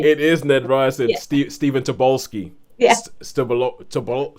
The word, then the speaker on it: Tobolowsky: It is Ned Ryerson, Stephen Tobolsky. Yeah. Tobolowsky. I've never actually heard that name pronounced out loud.